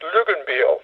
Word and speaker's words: Luckinbill: It comes from Switzerland, where it's pronounced Luckinbill.